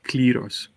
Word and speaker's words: Kleros: My Greek friends taught me to pronounce it like Kleros, which is the Greek pronunciation, I guess.